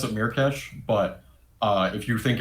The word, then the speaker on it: Myrkesh: is it merh Mir cash Mir cash I pronounce it mirkes but uh if you think of it like